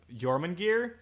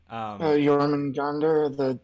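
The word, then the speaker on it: Jörmungandr: How do you pronounce that? Jormungandr? Jormungandr, the Norse, the Nordic snake.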